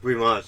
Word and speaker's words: weimaj: Hi guys, this is weimaj, and that is how it's pronounced.